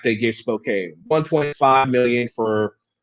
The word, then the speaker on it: Spokane: Spokane, it's pronounced Spokane.